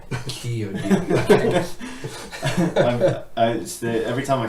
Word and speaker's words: Chiodini: phonetic pronunciation. Just so I was just like, Chiodini.